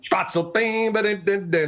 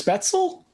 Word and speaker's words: Spätzle: Spatzel, spatzel, I don't even know that's how you say it. I think it's Spätzle.